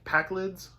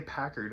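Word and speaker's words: Pakled: Packlids? Okay, I wasn't say Packard, and I'm like, that is not how you pronounce it.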